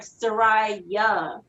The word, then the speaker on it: Soraja: like a Y, so it's like Soraja.